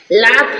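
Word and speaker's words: laugh: जी silent है brought brought means लाया जी silent है लाफ लाफ मीस हसना लाफ क्या लिखा है लाफ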